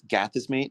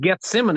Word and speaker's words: Gethsemane: Then you have his arrest at it's Gatism. Gatism. Is that how you say it? Gatism. Gethsemane is what I said. Gethsemane. Okay. Gethsemane. Sorry. I had no idea.